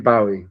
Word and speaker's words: Bowie: Like Jim Bowie, or as in the Bowie knife. That's the pronunciation.